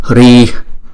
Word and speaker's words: Hri: Chúng ta sẽ phát âm là Hrihi. Nhưng trong câu chú thì chúng ta không có cần đọc chữ Hi đó. Chúng ta chỉ đọc là Hri. Chúng giống như cái hơi chúng ta hà ra thôi. Hri, Hri, Hri.